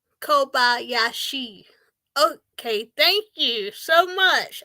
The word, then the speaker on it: Kobayashi: course Racers that um I think the last name is pronounced Kobayashi Kobayashi okay thank you so